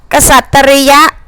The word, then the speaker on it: กษัตริย์: ได้ แล้ว ก็ เป็น กษัตริย์ ไป เลย พฤกษา ศาสนา อุทยาน เทวัญ มนุษย์